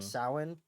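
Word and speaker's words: Samhain: spelled s m h a i n it's pronounced sa so you can tell that it was not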